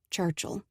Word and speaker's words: Churchill: cuticles call me churchill he pronounced it without the eye so it sounded like churchill go get your stuff